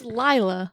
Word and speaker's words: Lila: It's Lila.